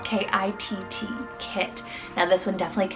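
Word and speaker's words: Kitt: Then I have Kit, spelled K-I-T-T, Kit.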